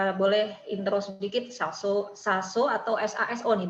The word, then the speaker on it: Saso: Mungkin Mas Andi, ini dulu sebelum masuk ke desain Mas Andi yang rumah genteng, boleh intro sedikit Saso atau SASO nih bacanya nih.